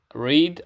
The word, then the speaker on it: read: es el pasado de read se escribe igual pero se pronuncia diferente y es el verbo leer es un verbo irregular también read and read que es el pasado